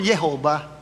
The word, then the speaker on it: Jehovah: Meron sila J, at yung J pinopronounce nila as Ya, as Y. Kaya kahit pinalitan nila, ginawa ng Jehovah, ang basa nila doon, Yehovah, tama pa rin.